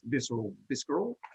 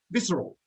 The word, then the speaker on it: visceral: He won't call this visceral like Luke and Mitch have been. But anyway, What's his name? Visceral. Visceral. It's not a hard C.